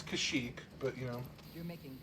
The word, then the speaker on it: Kashyyyk: headed off to kashyyyk however you want to pronounce it it's kashyyyk but you know you're making good progress pal